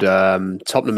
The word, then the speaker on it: Tottenham: Tottenham is the right way of pronouncing it.